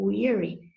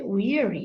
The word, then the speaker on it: weary: 여러분 발음이 weary잖아요. weary. 강세도 앞에 weary 이렇게 돼요.